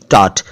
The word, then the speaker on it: taught: ऐसे ही टीच शब्द है अंग्रेजी में जिसका पास्ट है टॉट, TAUGHT, टॉट। टॉट को टाट कर देंगे तो आप जानते हैं टाट क्या होता है, मुझे कहने की जरूरत नहीं है, टाट।